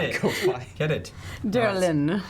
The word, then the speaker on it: Darylin: Don't spell it out for Oh, him. Y sounds cooler. Get it. Go fly. Get it. Derlin.